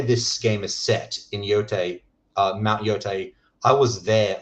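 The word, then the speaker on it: Yōtei: It's Yotai.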